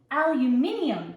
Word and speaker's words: aluminium: Aluminum is what it's supposed to be. There is an I. I. You're missing a whole letter and a syllable. Aluminium.